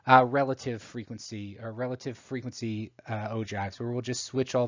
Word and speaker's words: ogive: next one is a bit of an odd pronunciation it's called an ogive and this is a graph that's showing the